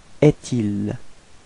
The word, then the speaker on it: est-il: So it's actually quite easy to figure because you get this trait d'union between est and il. So actually we'll have to pronounce est-il. Est-il. Okay.